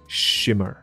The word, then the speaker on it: shimmer: 闪闪亮亮的，叫做 shimmer。